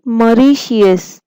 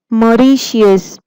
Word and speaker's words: Mauritius: Pronounce again. Mauritius. Mauritius.